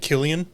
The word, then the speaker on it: Cillian: Is that how you say it, Killian? Yeah. What did I say? I said Cillian. Yeah. That's actually what I used to say. Then someone corrected me.